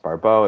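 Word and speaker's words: Barbault: You know, in French, his last name's pronounced Barbot.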